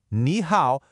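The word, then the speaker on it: 你好: Para dizer olá, a pessoa vê os caracteres Ni Hao e usa o Pinyin Ni Hao para saber como pronunciar.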